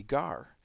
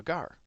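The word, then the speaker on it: gaur: we got to see gar. It's pronounced gar like the fish.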